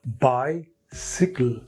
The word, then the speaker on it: bicycle: you can add Buy then pronunciation is changed unexpectedly it becomes bicycle not cycle it is always by sickle but in my place